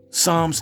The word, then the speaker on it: Psalms: I posted a while back, there are a lot of words with P on the beginning where the P is silent.